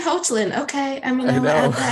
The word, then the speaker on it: Hoechlin: And now we've Tyler Hoechlin on Supergirl and Superman at Lois.